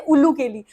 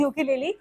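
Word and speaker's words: ukulele: हूं उसे कहते यली बहुत सारे लोग उसे गलत प्रोनाउंस करते हैं कभी-कभी कुछ बोलते हैं उल्लू केली और मैं बोलती हूं नहीं यार प्लीज उल्लू केली मत बोलो दैट इज यूके लेली ये फोर स्ट्रिंग इंस्ट्रूमेंट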